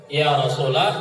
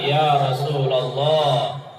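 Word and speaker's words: يا رسول الله: Iya Rosulullah Abdya Rasulullah Ya Rasulullah Ya rasulullah yang benar Ya Rasulallah letak produk ia Rasulullah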